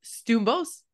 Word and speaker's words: Stoumbos: don't want to butcher your last name stos yeah did I say it right correct yeah